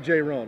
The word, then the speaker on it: Jayrone: own ear on J you call me J I call you Jez yeah call me J but it's really J Ron right yeah the play you